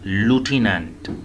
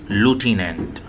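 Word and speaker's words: lieutenant: लेकिन जनाब इसे बोलेंगे कैसे, इसे बोलेंगे ऐसे जनाब, अमेरिकन जिसे बोलेंगे लूटिनेंट, ठीक है जी, लूटिनेंट, समझ आ गई जी, लूटिनेंट बोलेंगे।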